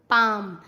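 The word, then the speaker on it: palm: एम से पहले CALM काम, बाम, पाम। एल साइलेंट होता है, क्लाम नहीं, काम, बाम, पाम।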